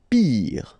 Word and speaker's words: pire: Pire, final E not pronounced, so R at the end, pire.